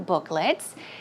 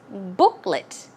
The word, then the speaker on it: booklet: Remember Joanne was talking about these coupon or coupon booklets. And the pronunciation is booklet. It's not let. Although it's l e t. It's pronounced as an l i t. A short i sound. Booklet.